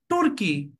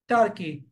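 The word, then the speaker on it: Turkey: Russia this is Russia this is নট তুর্কি অর তুর্কি this is call টার্কি this is call টার্কি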